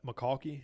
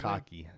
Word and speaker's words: McConkey: Is that McCalkey? Is that how you say it? McConkey. McConkey? McConkey.